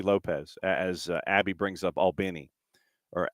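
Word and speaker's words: Albany: And it's like you're having a conversation with a guy named Alan, a guy named Benny.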